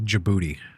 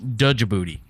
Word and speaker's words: Djibouti: I'm pretty sure this one said it's in Djibouti.